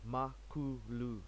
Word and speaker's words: Makulu: zulu word for big chief so it's basically pronounced makuu so makulu linux that's where it comes from